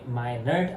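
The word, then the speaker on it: Meynert: the basil nucleus of my ner. I guess if I am pronouncing it correct or not I don't know but it is spelled as m e y n e r t.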